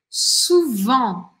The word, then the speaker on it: souvent: Eu não falo tudo isso aqui no final. Souvent. Ó, eu pronuncio. O que eu não vou falar é o T, tá?